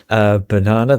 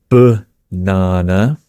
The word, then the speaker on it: banana: You know the one in the British accent. It is banana. How do you say it? Banana. Right, goes if I'm really American, banana. But I'd probably just say banana. And you say banana. Banana. Yes, right. Yeah, it's one of those weird English words where the letter A is pronounced differently, but 3 different ways.